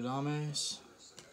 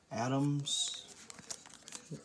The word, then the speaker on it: Adames: Willie Adames. Adams. One of those two pronunciations. I think Adames is correct though.